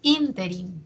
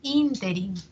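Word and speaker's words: ínterin: repítelo y luego tenemos interin no interí que yo sé que muchas veces lo pronunciamos interí me parece no en algunas personas Probablemente lo hay escuchado en el interí y no interí sin embargo Aquí está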